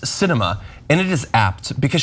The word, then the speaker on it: Sinema: The Arizona senator's name is pronounced Sinema, and it is apt because she sweeps and